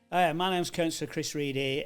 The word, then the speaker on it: Ready: My name's Chris Reedy. It's spelled ready.